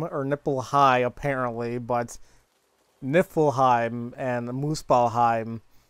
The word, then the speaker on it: Niflheim: want to say there it's niffle nifflheim not nipple hime nifelheim and Moo spell